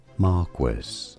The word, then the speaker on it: Marquis: This is said as Marquis stress on the first syllable marqu or in there they go.